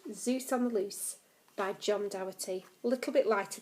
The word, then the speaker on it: Zeus: the Greek god Zeus you say it like Zeus and this is the